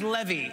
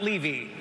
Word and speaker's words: Levy: But if it goes well tonight, my name is pronounced Levy, not Levy.